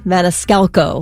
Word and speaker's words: Maniscalco: Dang it if you don't say his name wrong every time. I'm sorry. Go ahead, please, correct me. Sebastian Maniscalco.